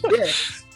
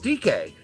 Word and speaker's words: Dike: All right, speaking of dicks, well, no, that's you mispronounced his name. Come on. Yeah, that was a horrible transition on my part. Okay, let's be nice to Daryl Dike.